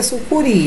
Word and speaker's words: sucuri: Vamos ver aqui, sucuri, você sabe que é sucuri, então a sílaba tônica está no ri, é uma oxítona.